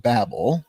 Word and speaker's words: Babel: The Tower of Babel or the Tower of Babel, depending on what side of the Atlantic you're